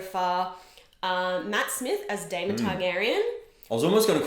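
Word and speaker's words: Daemon Targaryen: mix that up um that's the right pronunciation there damon targaryen yeah sorry yeah anyway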